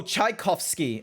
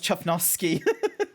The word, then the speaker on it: Tchaikovsky: Oh, Tchaikovsky. I thought it was Chufnovsky. Chufnovsky. Tchaikovsky. Wait. Tchaikovsky. I will figure this out. Wait, someone anvil him. No, do not anvil me. You're saying it wrong.